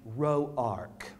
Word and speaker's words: Roark: family tree then what pronounced the name row Ark yes they are the ones that's got money in education these wasn't roarks those just rocks yeah